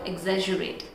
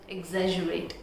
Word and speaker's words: exaggerate: So the correct pronunciation of this word, exaggerate, exaggerate, exaggerate.